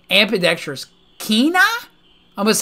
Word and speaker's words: Quina: it's ambidextrous kinah i must say kina is how you pronounce that what the freak keena you want this frog